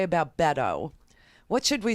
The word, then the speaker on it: Beto: What should we say about Beto? What should we say? First, we should say his name right. It's Beto. Bet, like bet your life on it.